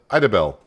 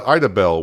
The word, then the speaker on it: Idabel: The end of the route should be kind of interesting, but we are going down to Idabel. That's the way I'm going to pronounce it.